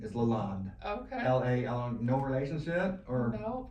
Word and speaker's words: LaLonde: pronounce your last name Lalonde Lalonde yeah because I see that e on the end I keep forgetting it's not a long day the E is silent it's French I don't speak French